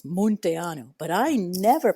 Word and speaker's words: Munteanu: It is meant to be in Romanian pronounced with that U the way it is. Monteanu, but I never pronounced it that way. I pronounce it Monte.